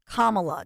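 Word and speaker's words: Kamala: you whoever you support her name is kamla just think of the name Mom it's bad it's my bad I don't want to dwell on that but if kamla Harris had children from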